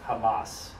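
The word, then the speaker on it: חמס: would more or less kind of pronounce it pronounce it Hamas have you ever heard of Hamas not just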